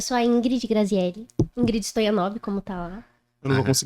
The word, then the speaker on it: Stoianov: Ingrid Stoyanova? Como é que é seu pronúncia?